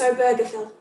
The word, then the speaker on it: Obergefell: let's get married and the gym i did look out how to pronounce it it's obergefell the gym so john arthur